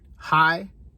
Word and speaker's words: hai: little dots under them, but M-O-T is how that's spelled. Mo, that's one. Hai is two.